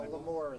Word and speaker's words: Lamore: More of a housekeeping question, is it Lamore, is that how you pronounce the first name, or is it Lamar? Lamar. Yes. Well, it's It's Lamour. Yes, so Lamore is how we would pronounce it.